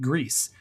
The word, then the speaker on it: Gris: So next month we are going to be talking about Gris, spelled Gris, and I heard it pronounced Gris or Gris, but like the developers, I'm pretty sure pronounce it Gris, Gris, and it is a very artistic platformer with some abstract themes to it.